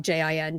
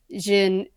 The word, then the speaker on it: Jin: It's like Jin, just Jin, and they became the leaders of the cultivation world after the downfall, after the tyranny.